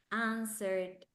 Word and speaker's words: answered: Well, here we have listened, answered. The W is silent.